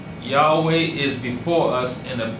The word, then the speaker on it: Yahweh: It is not Yahoo anything. It is Yahweh.